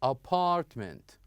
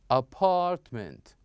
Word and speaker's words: apartment: here we have or the second example here we have word that has second syllable so not at the beginning not the first syllable but the second syllable for example here we have apartment apartment okay and here we have